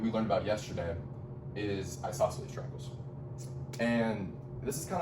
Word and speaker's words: isosceles: I say like isosceles. You say sa twice. Well, you say sa twice. But that's kind of how I remember it, is I just really pronounce it. I go isosceles.